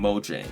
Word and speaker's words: Mojang: just actually wrong moang yes I do still pronounce it moang it's a habit and it still sounds pretty cool because number one moyang has actually said that you can pronounce it anyway you like but number two in official moang videos they actually do say em Mojang not to brck but